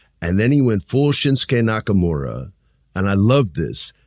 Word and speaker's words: Shinsuke: so cool they allowed shinuk to do that or shinsuke sorry for adding the extra s syllable but I really like